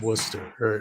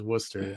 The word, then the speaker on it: Worcester: Gloucester is how it's spelled, but it's Wooster. No, that's Gloucester. But yeah, Wooster. Wooster. Worcester is Wooster, yeah.